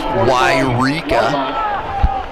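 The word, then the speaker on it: Yreka: Yes, it is pronounced Wairika.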